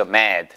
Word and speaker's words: mad: mad.